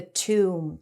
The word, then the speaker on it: tomb: from breaking open the tomb. Tense U, no B. A tomb is a structure or space often made of stone where a dead person is buried. Tomb.